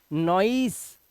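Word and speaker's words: noise: ऑयल ऐसे ही नोई नॉइस नॉइस अब नॉइस सी मत पढ़ना नॉइस सी लास्ट का ई साइलेंट नॉइस ऐसे ही जॉई जॉई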